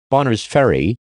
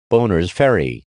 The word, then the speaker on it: Bonners Ferry: labrador canada wong germany bonners ferry idaho united states mispronounced boners ferry ass belgium butte montana